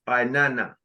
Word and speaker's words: Inanna: And then the name of the goddess, Inanna, the queen of heaven in Mesopotamia. That's how it's spelled, I-N-A-N-N-A, Inanna.